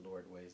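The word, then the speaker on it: L'Ardoise: names here esperite um lord ways they call it's called laguas but lord ways is how they say it gracie or gracieville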